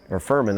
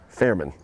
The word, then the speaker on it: Fairman: Number 50, Giuliani Furman, I should say. Fairman, if I could pronounce it correctly.